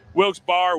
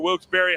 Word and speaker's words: Wilkes-Barre: Wilkes-Barre, Wilkes-Barre, however you want to pronounce it. I was told by the local police department that either one is okay, and either one will be respected.